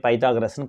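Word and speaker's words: Pythagoras: ஸோ இங்கிலீஷில் பைத்தாகரஸ்ன்னு pronounce பண்ணுவாங்கம்மா, தமிழில் பித்தாகரஸ்ன்னு pronounce பண்ணுவாங்க. சரிங்களா?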